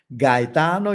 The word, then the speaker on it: Gaetano: If you want to improve your Italian pronunciation, they say Gaetano.